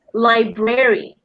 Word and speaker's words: library: We would say it library. A bit longer, 3 syllables there. Library. Okay. So the British way is simpler because it's library.